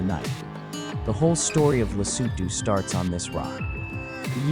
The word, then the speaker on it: Lesotho: This is Lesotho, pronounced Lesotho, the kingdom in the sky.